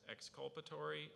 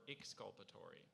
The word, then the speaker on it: exculpatory: they're an alternative pronunciation there's a slight variant there's exculpatory or exculpatory e^x CU l p8